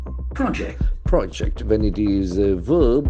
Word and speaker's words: project: the pronunciation be different as a noun the accent falls from the first syllable project project when it is a